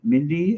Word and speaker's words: Mindi: Mindy and Windy. It's true. Windy and Mindy.